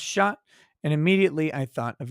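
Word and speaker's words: chat: day i learned that cat in french is pronounced shot and immediately i thought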